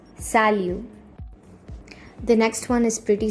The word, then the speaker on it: salut: The last T is silent, so it's salut.